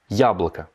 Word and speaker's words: яблоко: Si je prends maintenant le cas de la pomme, яблоко. Là, l'accent tonique, il est sur le ya.